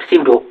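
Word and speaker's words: pseudo: SQL means S और सिवडो, ठीक है। सिवडो भी उच्चारण में एस से स्टार्ट होता है, तो इसे हम लोग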